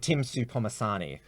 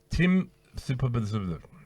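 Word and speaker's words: Tim Soutphommasane: How do you pronounce his name? Tim Supomasani. Tim Supomasani.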